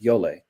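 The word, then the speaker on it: djole: to be playing is a rhythm called yole spelled in english it's spelled t-j-o-l-e so d-j-o-l-e-l-a um it's a rhythm from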